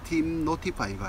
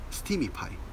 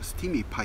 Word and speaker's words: steemify: 말은 앱 이름도 잘못된 stop 파이가 아니고 스팀이 파 2pm 하고 뒤에 뭐 if i 부턴 스팀이 파 입니다 검색하시는 데 꼬 자꾸